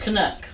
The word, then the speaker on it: Canuck: It's just pronounced Canuck.